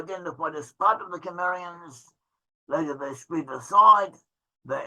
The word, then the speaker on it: Cimmerians: So one group of the Cimmerians, or sometimes they're pronounced the Sumerians or Cimmerians, so one group of